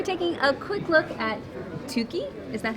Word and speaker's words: Tuki: I'm with Mike with Plan B Games, and we're taking a quick look at Tuki. Is that how it's pronounced?